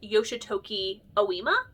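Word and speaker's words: Yoshitoki Ōima: I think it's pronounced Yoshitoki Oima.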